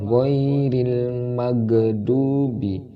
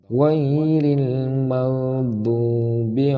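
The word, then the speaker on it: غير المغضوب: Nah, di sini juga sering terjadi kesalahan. Kesalahannya pada pelafalan huruf wain. Tidak boleh dibaca dengan qalqalah wairil magdubi. Itu tidak boleh. Wairil maghdubi alaihim waladdallin.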